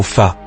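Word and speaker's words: 发: Le mot pour 8, ba, b, est phonétiquement très proche du mot fa, qui signifie croissance, prospérité ou richesse.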